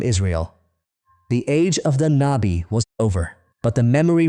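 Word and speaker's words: نبي: In Arabic, it's pronounced Nabi as well.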